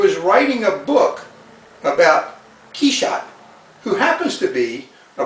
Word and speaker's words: Quichotte: Quichotte is like a French pronunciation of Quixote.